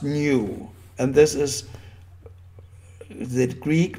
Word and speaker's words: nu: is the small greek letter for n which is nu pronunced nu and this is the